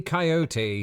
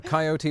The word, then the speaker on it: coyote: no idea what a coyote was. You've heard me say the word coyote 6 times. And on each of those occasions, I never failed to pronounce it with 3 syllables.